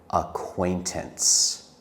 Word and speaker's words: acquaintance: Before we end this video, I want to practice the word acquaintance. It is a hard word to spell, but let's talk about how to say it. We say it in three parts. Acquaintance. Acquaintance.